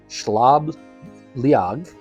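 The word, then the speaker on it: Sliabh Liag: get it wrong because I'm gonna try to do the the Irish pronunciation um schlab liag or what that stands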